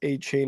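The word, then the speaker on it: Achane: what is Devon aan they don't say aan a Chan's name is pronounced a Chan according to the former Texas A&M running back yeah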